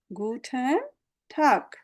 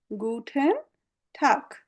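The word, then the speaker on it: Guten Tag: গুটেন টাগ, গুটেন টাগ। এটাতে আমাদের কোনো আর্টিফিশিয়াল কিছু নাই, একদম ইংরেজিতে যেভাবে পড়েন ওইভাবে, গুটেন টাগ।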